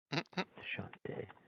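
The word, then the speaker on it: Chauntea: Oh, so that's how you pronounce her name. Shantae.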